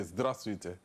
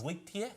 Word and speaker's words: Здравствуйте: I need to be respectful, so I say, Здравствуйте. Right? If you have false teeth, you understand? So, one thing you guys need to remember as well, Zdras is spelled Здравствуйте, but Russians, Здравствуйте.